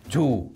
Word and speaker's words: two: It's T and U. Two. Wait a minute. Two. Okay. T-W-O. Two. In the first number there, is a W, but there is no W.